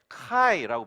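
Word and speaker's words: χ: 나오는데요 첫 번째 단어가 x인데 카이라고 불러요 카이 카이 두 번째가 피로 우리가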